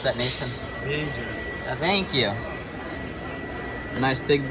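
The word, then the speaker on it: Vieja: How would you pronounce that, Nathan? Vija.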